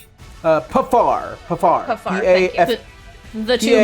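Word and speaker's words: Paphar: Who is within 30 feet of this, how the hell is it pronounced? Pifar? Pafar.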